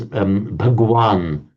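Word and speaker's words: भगवान: There's the phrase Bhagwan, which is how it's pronounced in Hindi.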